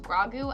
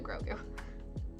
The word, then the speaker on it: Grogu: Is it pronounced Grogu? I thought it was said Grogu. I think you can do both. I usually just say Grogu fast because of my accent, but it's probably Grogu.